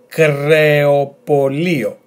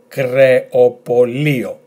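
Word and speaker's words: κρεοπωλείο: So altogether, creopolio, creopolio, which means butchers.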